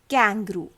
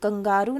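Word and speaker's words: kangaroo: के सेज क, कैंगरू। के सेज क, कैंगरू। कंगारू नहीं होता, इट्स कैंगरू।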